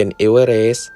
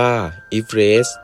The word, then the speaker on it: Everest: เซอร์ จอร์จ อีฟ เรซ คำ ว่า If Red คน ส่วน มาก อ่าน ออก เสียง เป็น เอเวอร์เรสต์ ขณะ ที่ เซอร์ จอร์จ อ่าน ออก เสียง ชื่อ สกุล ของ ตัว เอง ว่า อีเฟรช ซึ่ง เป็น ทีม สำรวจ